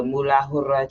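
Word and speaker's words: मूलाधार: And then uh it is pronounced the moolahur chakra. And um it is lamb.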